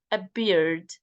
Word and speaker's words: appeared: Not appeared, appeared, appeared. And try to pronounce P as not B, it's P.